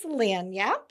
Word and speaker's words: Lagniappe: Okay, first of all, it is spelled very differently than how you pronounce it. Their name is Lagniappe.